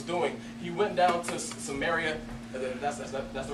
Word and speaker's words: Samaria: what Jesus was doing he went down to Samaria that's that's the right way to pronounce it it's crazy because normally Jews they'll